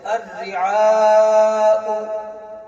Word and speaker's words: الرعاء: ساتھ سکتہ ہونا چاہیے۔ سکتے کی حالت میں الرعاء کا حمزہ ساکن پڑھا جائے گا، الرعاء وابونا، ایسے سکتہ کیا جائے گا، الرعاء وابونا، ایسے سکتہ نہیں کیا جائے گا۔ سمجھ گئے بچوں؟